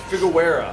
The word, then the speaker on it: Figueroa: against Jose Figueroa. I hope I pronounced that right. Figueroa.